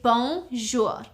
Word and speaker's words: bonjour: So to say hi, hello, hey, you would simply say bonjour. It's two syllables. Bonjour.